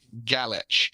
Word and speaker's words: Galich: good friend Nick garage pronounced gal with an itch galich and he is a